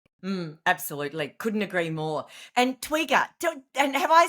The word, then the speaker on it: Twiga: And Twigger, and have I said it right, firstly? And where has that come from? What is it? Yeah, so Twiga, yes, you have said it correctly.